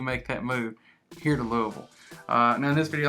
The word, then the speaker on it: Louisville: Although it was named after King Louis, we locals call it Louisville. You know, it's just kind of the local lazy way of pronouncing it.